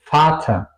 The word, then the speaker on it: Vater: Al contrario, la V alemana suena un poco como una F, ¿ok? Vater, Vater.